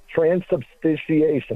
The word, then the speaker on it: transubstantiation: And he was saying, Busman, transubstantiation. Am I pronouncing that correctly, Matt?